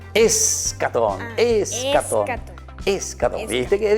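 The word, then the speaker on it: eschaton: ¿Acatón? Escatón, escatón.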